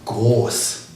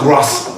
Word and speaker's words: Groß: It's called SZ, and that is groß. Groß with a long O, and a small s. Groß. Not gross.